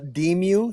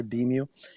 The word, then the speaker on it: DEMU: we pronounce it a demu so it's short for decentralized music and I just kind of squash those two together deem you and that's that's what